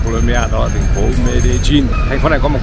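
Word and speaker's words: Medellín: Đầu tiên, để tránh hiểu lầm thì tên của thành phố này phải đọc là Medellin chứ không phải Medellin, tại vì hai chữ L trong tiếng Tây Ban Nha sẽ đọc thành chữ G.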